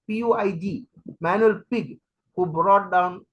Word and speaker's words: Puig: the crack generation Manuel Pig Puig I don't know the exact pronunciation you might think that it is pig but it is Puig manual Pig who brought